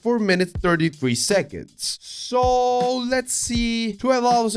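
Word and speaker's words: 4′33″: silent track and it's 433 pronounced 4 minutes 33 seconds so let's see 12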